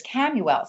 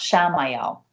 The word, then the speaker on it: Chamuel: But one of the angels I work with is Camuel, Chamuel. Many people pronounce Shamael, but Camuel, heart chakra, angel of self-love.